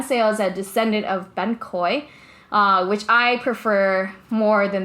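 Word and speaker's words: bánh khoái: that I always mispronounce, because people hear me and they're like, oh, you mean ban kot? And I'm like, no, not ban kot from Vung Tau. I'm talking about ban khoi, which is like a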